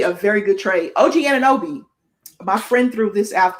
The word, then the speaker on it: Anunoby: OG Anunoby, my friend threw this out there.